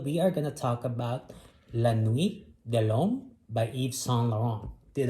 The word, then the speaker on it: La Nuit de L'Homme: for this episode we are gonna talk about la nuit de long by eve song lauren did i pronounce it right you did okay so and